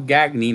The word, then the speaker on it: Gagne: Greg gagney and yes he did call himself gagney not gone yet like the French pronounced yeah Paul were friends